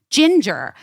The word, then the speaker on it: Jinjer: Ginger. But it's spelled Jinjer.